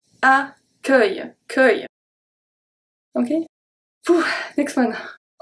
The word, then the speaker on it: accueil: So it's a bit like you say ac, and then œil, like your eye, accueil, okay?